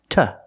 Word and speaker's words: to: to explain to her we have to use the preposition to pronounced ta explain to her what